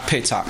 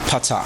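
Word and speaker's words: פתח: Not petak, patak.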